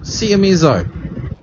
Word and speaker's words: Seiemmezzo: Seiemmezzo. Seiemmezzo. Seiemmezzo. If you're struggling to spell it, struggling to say it, that's how you say it.